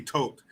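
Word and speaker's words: Toht: out and um uh major Arnold tort is that his name tote I I've I hear one character I think it's uh bellock at one point says tote so maybe that's how it's said yeah t-o-h-t tote he tells him shoots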